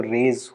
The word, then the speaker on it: res: Res actually, res कहूँगा मैं pronunciation in Latin, because वहाँ पे res की pronunciation में raise हो जाएगा, लेकिन वो RAYS वाला English में अगर मैं Latin में मतलब pronunciation के हिसाब से पढ़ दूँ तो it will be raise, right?